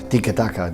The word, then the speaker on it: tiki-taka: Where did the phrase come from and how do you pronounce it properly? Tiki-taka, that's something like this.